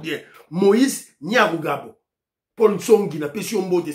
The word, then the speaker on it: Nyarugabo: L'intention la prononcer comme on est bien, maman Ghislaine Chouwa, l'intention la prononcer bien. Moïse Nyamurabo.